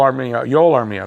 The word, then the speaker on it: Armia: We'll start off with a trade of Joel Armia. That's how you pronounce it.